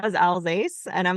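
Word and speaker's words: Alsace: know where the but the all sauce thing drives me nuts I'm like where's the U you guys it's not there it's Ela alas yes alas you were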